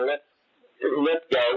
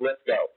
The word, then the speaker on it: Lithgow: And the first thing we learned from John Lithgow was that his name is pronounced Lithgow, and not Lithgow.